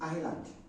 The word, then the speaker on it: island: some of you do it's not Islam it's supposed to be island and island is a land surrounded by water all right now this